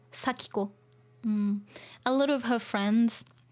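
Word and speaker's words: 祥子: spell Sako like this it looks like shoko but um in this uh game in this story uh it's pronounced sakiko a lot of her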